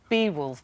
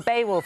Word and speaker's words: Beowulf: Bewolf. Bewolf. Bewolf. Beaywolf. Beaywolf. Bewolf. Beaywolf. Well, Baywolf, it launched on ITV last night.